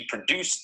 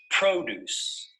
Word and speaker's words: produce: of this word is produce notice that the stress is on the first syllable produce produce this noun is